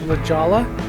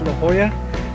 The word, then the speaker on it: La Jolla: of this place as la jala though the locals will be quick to correct you and tell you that it's la hoya but if you want